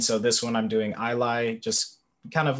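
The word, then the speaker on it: Ilay: know their name what's their name michael uh i lie um so it's uh i-l-a-y um kind of taking inspiration uh it's not pronounced the same but the letters are kind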